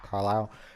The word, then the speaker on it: Carlisle: Carlisle.